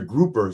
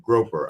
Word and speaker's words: grouper: And it was a I always say this fish wrong. And I think because I used to say it wrong on purpose for laughs. It's a grouper sandwich. I'm used to see I used to say groper.